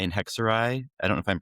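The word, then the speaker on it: Hexerei: Pow-ow, browery, and hexuray. I don't know if I'm pronouncing that right.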